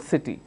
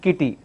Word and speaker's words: city: sound cat the other one starts with a sound city we don't say sat and kitty if we have to